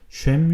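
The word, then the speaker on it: שֵׁם: 되어 있는데 그 이름은 히브리어로 sham이라고 하고요 기름은 쉐멘이라고 합니다 쉐임 쉐멘 굉장히 비슷하죠 전도자가 이렇게 쉐맨이라는 언어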